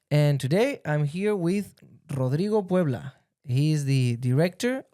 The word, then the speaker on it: Rodrigo: So, again, my name is Rodrigo Pueblo. So, if you cannot roll your R, that's fine. But that's how you're supposed to pronounce it at least.